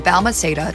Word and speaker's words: Balmaceda: Shortly after her death, Pascal changed his last name from Balmaceda to Pascal to honor his mother.